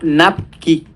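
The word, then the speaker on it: NAPQI: a formar un metabolito tóxico que se llama Napki. Se escribe así, se los pongo aquí, NAPKI, NQI, ¿vale?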